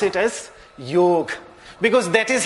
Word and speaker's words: yoga: a closed mouth so the correct pronunciation of the word yoga is neither yoga with a long a with a ah and nor it is you it is good for Hindi speaking people but not the proper Sanskrit pronunciation the proper Sanskrit pronunciation is you God yoga the stress being on you and then the with a short e maybe we can just